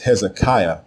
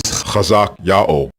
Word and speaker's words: Hezekiah: The way you pronounce the king's name is Chazak Yao, Chazak Yao, and it means Yahweh is strong.